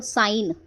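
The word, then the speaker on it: sign: तो पढ़ो साइन। इसे बोलेंगे हम एस आई जी एन साइन। तो इसमें जी साइलेंट है।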